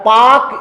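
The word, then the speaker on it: Palk: पर आ रहा है पाक स्ट्रेट एक्चुअल में क्या होता है यह शब्द है पी ए एल के यहां पर के से पहले एल आ रहा है इसलिए व साइलेंट है जल संधि किनको जोड़ती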